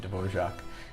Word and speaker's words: Dvořák: composer dorja divor funny spelling not funny but I mean that you pronounce it dorak um and uh born